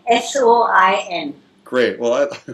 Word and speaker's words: Soin: I forgot to ask you how you pronounced it. That is Soin, S-O-I-N.